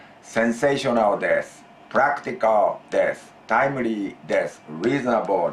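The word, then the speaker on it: です: But in this kind of situations, always des, and the last U is silent.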